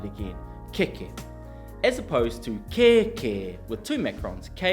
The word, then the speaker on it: kēkē: Kēkē So we've got keke and kēkē, can you say kēkē? And kēkē is the Māori word for armpit Pretty different to a